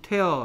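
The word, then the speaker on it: tear: 태양 찍기 힘든 따뜻해요 튀어 가 아니고 태아 라고 발음해야 한다 했습니다 튀어 는 눈물입니다 그래서 복잡한 이란 뜻으로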